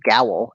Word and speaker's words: Gowl: So it's as we found out, it's pronounced gowl. It apparently rhymes with the word towel.